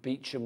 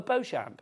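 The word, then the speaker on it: Beauchamp: and like spell it so I spell it out oh bamp it's like no beachum it's like beachum Road beachum it's like but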